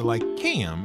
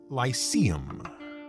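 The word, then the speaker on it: Lyceum: you might recognize the lycaem as the great library and center of learning in the lands of britannia though you probably pronounced it lyseum remember in ancient greek that sea is always hard now aristotle's library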